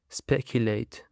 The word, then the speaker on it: speculate: That's it, dear listeners, and now let's jump to the next word, which is speculate. Speculate. It actually consists of 3 syllables and the stress is on the first syllable.